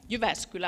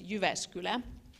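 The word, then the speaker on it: Jyväskylä: her schedule so welcome University of askew lab you vascular I'm already you know pronouncing it like a foreigner but it's you vascular it's research university and one of the world's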